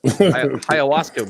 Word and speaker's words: ayahuasca: Ayahuasca weed, whatever the fuck he's doing. Ayahuasca.